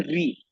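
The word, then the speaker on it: ऌ: जो आप ल बोलते हो ल, उस ल को बोलते समय आपको सिर्फ उस ल को बोलते समय आपको थोड़ा सा उसको बस घुमा देना है।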